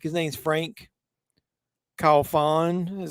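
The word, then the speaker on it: Franck Khalfoun: of another movies I like his name's Frank call Fawn is how you pronounce it he directed a movie called P2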